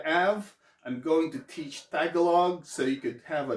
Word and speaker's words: Tagalog: tagalog it's actually pronounced tagalog there's an accent right there tagalog that's the main that's